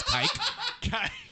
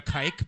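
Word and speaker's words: Kiké: And for those that spell Kike like online, they forget to put the accent so it looks like it says kike. So you're like calling him a kike basically. So it's really important. You have to put the accent on the E when you spell Kike online because then it says Kike Hernandez.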